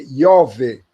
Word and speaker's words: Jove: Se escreve Jove, mas a pronúncia é Iove. O som do J latino original é o mesmo som do nosso I.